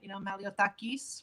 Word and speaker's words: Malliotakis: no, Maliotakis, maybe with a little accent, Maliotakis would be the way that they would pronounce it, but more or less it's the same.